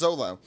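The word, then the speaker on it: Zoro: and Kaa uh Kaa how do you it's pronounced Zolo Zolo their relationship is cool too but yeah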